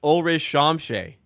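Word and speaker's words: Ulrich Chomche: Rich Chamchi. It's pronounced Olri Shamshe.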